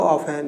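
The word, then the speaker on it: often: हाउ ऑफन, यहाँ पे T silent रहता है।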